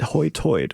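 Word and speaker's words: Hoi Toider: In fact, the name itself comes from the way that the locals pronounce high tide, Hoytoid, which we would agree is probably a little bit unusual sounding in the in this in the south or anywhere.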